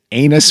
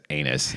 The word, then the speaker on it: Anus: And number one is Anus, France. Oh, I'm Lord. sure it's pronounced Anu Yeah. or something like that, but still, it is ANUS.